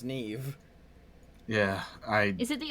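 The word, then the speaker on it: Niamh: I'm fully aware that that spelling is pronounced Nev yeah I is it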